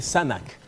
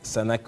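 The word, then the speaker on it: SNHAK: un institut l'Institut international je vais bien prononcer le nom parce que c'est un peu compliqué sanak sanak c'est écrit comme ceci S N H a K ça se lit sanak sanac d'histoire et nous avons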